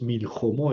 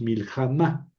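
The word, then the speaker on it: מלחמה: Entonces es no es milhjomó, es miljamá.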